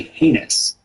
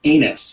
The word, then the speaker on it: heinous: A slow or weak recruit is said to be heinous, which many recruits and, in fact, drill instructors have misheard and will continue to mispronounce as anus for their entire career.